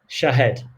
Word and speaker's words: Shahd: It was as simple as Shahd. So, good evening, Shahd.